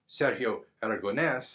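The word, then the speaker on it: Sergio Aragonés: Sergio Aragones, or Sergio Aragones, as it's supposed to be pronounced, but we all talk like a bunch of Americans here.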